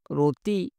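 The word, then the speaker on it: roti: ভাষায় বলা হয় রতি রতি টির উচ্চারণ ত হয়ে যাবে রতি মানে হলো রুটি আটার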